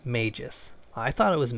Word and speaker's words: Magus: firstly this game is pronounced maejus I thought it was Magus because I didn't know anything about this game